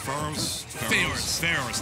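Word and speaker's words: Farore's: You know, a lot of Zeldas are really doing it, but the hitbox on Pharaoh's Wind, or however you pronounce it, Pharaoh's, thank you, is just so thick, so huge, much like Snake and his butt cheeks.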